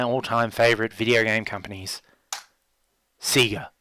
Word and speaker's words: Sega: favorite video game companies Sega or Sega how you pronounce it seems to depend on where you grew up I understand that Sega is correct however in Australia even their own promo material seemed to say Sega for a very long time